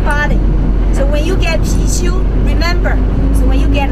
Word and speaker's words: Pixiu: And we call that Pixiu, Pixiu, P-I-X-I-U.